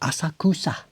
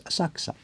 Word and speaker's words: Asakusa: where my shop is tourists call it asakusa. It's not asakusa it's asaka. Just run the K and the S straight together. You drop the U.